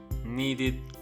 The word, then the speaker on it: needed: Cleaned, needed, helped. As you can hear, the ed is pronounced differently in each one. Cleaned. The ed is pronounced as t, cleaned. Needed. The ed is pronounced as id, needed.